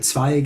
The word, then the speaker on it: Zweig: Zweig or Zweig, as it's originally pronounced, is a branch.